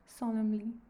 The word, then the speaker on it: solemnly: toies solemnly solemnly solemnly okay n is silent here solemnly where is the solemnly